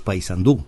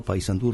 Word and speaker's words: Paysandú: Vos decís Paysandú. ¿Y? No es una palabra aguda, es Paysandú, con acento en la U, no Paysandú recargando sobre la A.